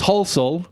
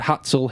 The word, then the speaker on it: Halsall: to people not kn how to pronounce my last name which is holel um but being in America for so long now I've had all sorts of people try and pronounce it and pronounce it wrong I've had hatel hisle hustle wholesale another few words which